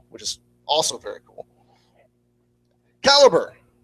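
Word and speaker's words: Calibre: caliber which you'll hear a lot of people pronounce calibra which they can you don't have to correct them but it's caliber uh who knows has you played with okay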